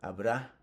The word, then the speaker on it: habrá: And finally, the future, habrá, habrá. So the tilde, the accent on the A, habrá un libro en el estante.